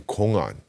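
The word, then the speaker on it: 공안: Now, these hwadus are also called in Korean kongan. Now, kongan in Chinese is pronounced kungan, and in Japanese it's pronounced koan.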